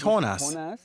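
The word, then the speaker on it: Jonás: nose right yeah yes Jonas in Spanish is horn us it's the first time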